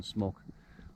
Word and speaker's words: smok: a caspian whip snake the locals call them smok as in kind of smok uh a jacket i mean just pronunciation smock that's what they call